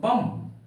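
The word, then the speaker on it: bomb: क्या कहीं कहीं पर एम के बाद बी आए तो बी का उच्चारण नहीं होता है एम के बाद बी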